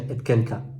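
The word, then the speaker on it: אתקנך: O sea, Chai ani neum Hashem ki im ye Jonia ben Yehoyakim melech Yehuda jotam al yad yemini misham etkeneka. ¿Sí? Aunque hay quienes pronuncian etkenka.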